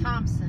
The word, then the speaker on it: Thompson: Thompson, not the H is silent.